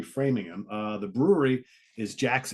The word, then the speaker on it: Framingham: how you say it if you if you read it it's Framingham and it's probably framing him uh the brewery is